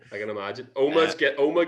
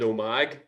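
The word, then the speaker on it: Omagh: Oma gets mispronounced quite a lot. When I went to uni in England, my English mates called it Omag for quite a long time, and it was quite infuriating.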